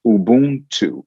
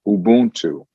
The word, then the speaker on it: Ubuntu: It's pronounced Ubuntu. Ubuntu.